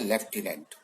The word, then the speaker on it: lieutenant: अब एक शब्द है, कई लोग स्पेलिंग ही बता नहीं पाते, वो शब्द है लेफ्टिनेंट, LIEUTENANT, के लेफ्टिनेंट की है, लेकिन उसमें फ नहीं है, साइलेंट है।